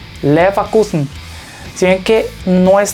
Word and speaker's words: Leverkusen: Como ven, tenemos una V, pero la V no está al principio, está, digamos, ya en medio de la palabra. A pesar de eso, el sonido, o sea, F, se mantiene, pero no es tan fuerte. Esto se le diría Leverkusen. Leverkusen.